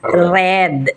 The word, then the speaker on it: read: re e a d pa rin pero you pronounce it as Red yan Yun lang ang pronounce niyan same spelling